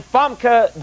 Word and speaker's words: Famke: That's your name, Famke.